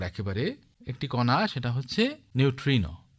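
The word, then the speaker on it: neutrino: তো এই কণার মধ্যে একেবারে অকিঞ্চিতকর একেবারে একটি কণা, সেটা হচ্ছে নিউট্রিনো। অনেকে উচ্চারণ করেন নয়ট্রিনো।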